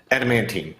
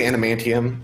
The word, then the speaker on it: adamantine: Adamantine. Okay, yes. I always say adamantium, and that's not what it is.